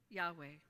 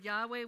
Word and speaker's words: Yahweh: the video got interesting when we take a breath it sounds like the name of the Lord God Yahweh breathe in breathe out